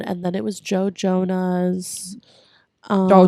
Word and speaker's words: Jonas: But it's Jonas. Jonas? Yeah. The Jonas Brothers. The Jonas brothers. Joness.